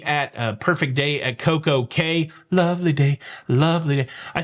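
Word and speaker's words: CocoCay: to perfect day at CoCo Key uh you know you you would be correct from a pronunciation in the Caribbean perspective but from a Royal Caribbean perspective is Coco k a lovely day at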